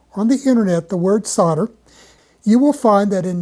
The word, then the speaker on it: solder: Now, if you will simply look up on the internet the word solder, you will find that in North America, it is pronounced as if it is spelled s o dde er, solder.